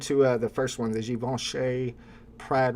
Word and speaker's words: Givenchy: You gotta really, Givenchy. you gotta get really French with that one.